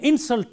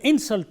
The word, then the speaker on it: insult: Take for example, a word like insult. When you use this word as a noun, the stress is on the first syllable. When you use this word as a verb, the stress is on the second syllable. So, for example, if I say, this is an insult to me, I stress the first syllable of this word, in.